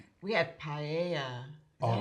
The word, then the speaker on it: paella: We had paella.